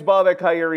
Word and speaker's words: Bobak Ha'Eri: Uh, my name's Bob Akeri. If you want to know how to pronounce it, there you go.